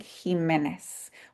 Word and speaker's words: Jimenez: and today's extension session, Jimenez can be spelled with a J at the beginning, a G at the beginning, or an X, and it still sounds like the same thing, Jimenez, with the H at